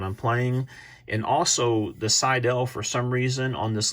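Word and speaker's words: Seydel: Another brand that has really made the waves are Seidel, I think is how it's pronounced.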